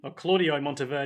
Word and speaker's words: Claudio Monteverdi: see Specter this favorite musician is Claudio Monteverdi Claudio Monteverdi thank you for pronouncing that correctly who was an Italian composer